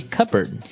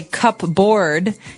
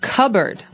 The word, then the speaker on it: cupboard: the silverware we usually keep them in a Cupboard okay so you might want to say cupboard because it's cup c u p b o a r d That's Not Right the word is pronounced cupboard okay so even though it may seem like